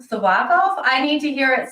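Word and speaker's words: Tsyplakov: o OV OV um the t is silent sub off sub off I need to hear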